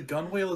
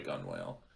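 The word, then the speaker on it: gunwale: your head off the gun whale yep oh is that what that actually is called we always called it the gunnel it might it might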